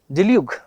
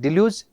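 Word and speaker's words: deluge: डिल्यूग भी इसका एक प्रोनाउंसिएशन पॉसिबल है, और डेल्स आपके पास में एक अच्छा वर्ड हो जाएगा। मतलब इसका दो पॉसिबल हम लोग प्रोनाउंसिएशन देख सकते हैं। डिल्यूज वैसे तो सही होना चाहिए आपके पास में, क्योंकि एक्चुअल यही माना गया है डिल्यूज, लेकिन कहीं कहीं पर इसको डेल्यूग भी हम लोग बोलने की कोशिश करते हैं।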